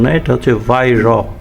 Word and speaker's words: Weihrauch: যেহেতু জার্মানি উচ্চারণ সেজন্য মানে লেখার সাথে আপনি উচ্চারণ ঠিকমত করতে পারবেন না। এটাকে ওয়াইরাক অনেকে বলছে নিজের মনে মনে। আসলে এটা উচ্চারণ নয়। এটা হচ্ছে ভাইর উচ্চারণ উচ্চারণে যাই আসে